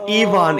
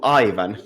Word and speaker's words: Ivan: It's pronounced Ivan in Russia, and it's the English speakers who mangled it to Ivan.